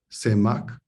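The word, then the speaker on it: סמך: la imposición de mano en hebreo se pronuncia semac lledó semak exponer echarse inclinarse con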